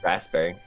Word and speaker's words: raspberry: I say raspberry. That's what it is. And most people go raspberry. They don't Oh. do the P.